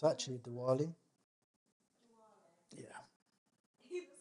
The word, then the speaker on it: Diwali: It's actually Diwali.